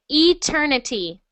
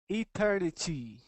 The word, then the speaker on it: eternity: Instead of et, we're going to start with e. Eternity. Eternity.